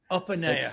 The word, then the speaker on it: Opaneye: that you can have a successful business opaya have I pronounced your surname correctly this time Opa Opa okay I'm GNA get it right Opa